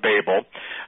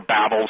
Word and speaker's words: Babel: Horn are right back at the Tower of Babel and or Babel some people pronounce it one way some pronounce it the